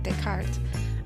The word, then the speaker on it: Descartes: Although it started off as Artemus Descartes, French name Descartes, I thought that maybe that was going to be a little too difficult for some people to pronounce, and because reading it as it looks, it's a little bit different than pronounced. So I shorten it to